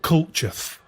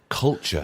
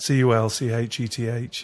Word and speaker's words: Culcheth: Well, I grew up in a place called Culcheth. Culture. Yeah, would you like me to spell that? Culcheth.